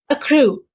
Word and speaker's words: accrue: Accrue. The stress is on the second syllable.